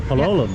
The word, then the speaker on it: Palolem: said, "You want to get off here for Palolum?" Yeah. Yeah. Um where how do I get to Palm Beach? Palm is down this way. Palum, is that how you say it?